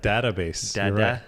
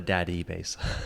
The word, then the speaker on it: Dadabase: pod that's right database what do you pronounce it the database oh sorry yes database yeah not the daddy basee yeah definitely not the